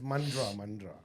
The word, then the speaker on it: Mandurah: Dia pronounce as Mandra.